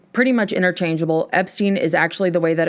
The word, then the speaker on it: Epstein: circa 1963, with the band's homosexual manager, Brian Epstein." Pronunciation: Epstein, pretty much interchangeable. Epstein is actually the way that it was pronounced